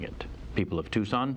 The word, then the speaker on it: Tucson: in the Tempe, I believe is how they annoyingly pronounce it. I'm sorry. And also, it's Tucson, the way you're spelling it. People of Tucson.